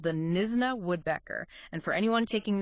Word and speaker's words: Knysna: We're zeroing in on a highly specialized, incredibly elusive, and honestly strangely contradictory bird from South Africa called the Nisna Woodbecker. And for anyone taking notes, that's spelled K N Y S N A.